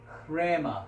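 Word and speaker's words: ῥῆμα: 지금이 로라는 다음이 처음 때는 목구멍 소리를 합쳐서 레마 크레마 롤의 마음에 이렇게 발음을 하게 됩니다 그래서 오늘 이 시간에는 크랙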